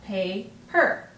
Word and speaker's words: paper: Okay, and we see that the A is at the end of our first syllable, and it's saying its long sound, pay-per.